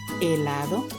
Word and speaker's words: helado: The letter H, helado, ice cream, helado. And as you can listen to it, the H is silent.